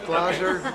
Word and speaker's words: Glaser: Glasser? Yes, I am. Are we saying Glasser right? Close enough. Glazer, we pronounce it. Glaser. Yep. And it's a German name.